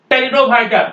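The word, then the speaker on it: pteridophyta: पढ़े होंगे साइंस में टेरिडोफाइटा पी के बाद टी है इसलिए पी हम नहीं बोलेंगे टेडो भा बोलेंगे ये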